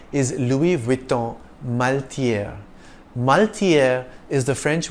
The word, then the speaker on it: Louis Vuitton: world's leading fashion houses the S is silent in the first name Louis if you tend to